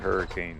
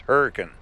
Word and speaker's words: Hurricane: the exit for hurricane it's spelled hurricane I got in trouble last time I was up here a couple years ago called it hurricane it's hurricane so I got corrected all right well we're